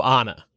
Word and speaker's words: Anna: Anna, that's pronounced with a soft A. So Anna. So Anna, yeah. I'm sorry, Anna. Like the Frozen character.